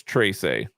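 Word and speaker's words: Trese: the writer i said how do you pronounce it it's trace a anyway and it's basically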